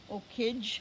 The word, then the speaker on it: okij: Okij is how you say that in Ojibwe.